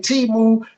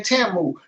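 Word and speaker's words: Temu: Niggas like can't handle the truth, been saying it wrong. She been having me running around saying Timu. Every time I heard the white people or the Asian person say it, they say Tamu.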